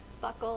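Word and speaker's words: buccal: initials on this package Buckle is how I pronounce it this is not the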